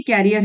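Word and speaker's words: carrier: Even then आपके service provider भी कैरियर है, क्योंकि आपकी बात को एक जगह से दूसरी जगह ले जा रहे हैं वो.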